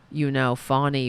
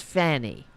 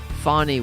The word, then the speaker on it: Fani: Now, Fani Willis is prosecuting, she's the AG in Georgia, prosecuting one of Trump's many criminal indictments. Now, Republicans, believe it or not, they are deliberately mispronouncing her name as Fanny, because they're infants.